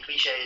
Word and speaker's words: cliché: Cliché is pronounced like the French cliché.